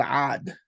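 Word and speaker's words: ʿĀd: There was a tribe called Ad. It's hard to pronounce in English. It's just written A-D. And before the A, they put like a little superscript C for that that kind of gagging sound, which you find in Semitic languages.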